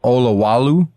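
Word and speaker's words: Olowalu: That hidden gem you called Olawalu, is that how you say it?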